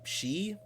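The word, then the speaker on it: sidhe: you ask, for all manner of fairy and she, is it pronounced?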